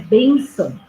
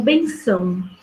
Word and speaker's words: bênção: No entanto, a gente sabe que a pronúncia correta é bênção e não benção.